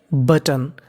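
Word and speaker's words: button: ही pressed, pressed का मतलब होता है दबा देना, उसने दबा दिया द बटन। यहाँ पे टी 2 बार लिखा है, उच्चारण 1 बार करना है।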